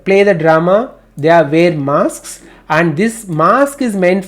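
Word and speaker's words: masque: How do you pronounce mask? Mask.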